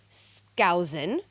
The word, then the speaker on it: Skousen: Cleon Skousen. Did I pronounce it correctly? Skousen? Sounds right to me, yes.